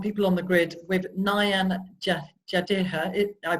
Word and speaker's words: Nayan Jadeja: So we're talking today on People on the Grid with Nayan Jadeja. I pronounced your name correctly. Nayan Jadeja.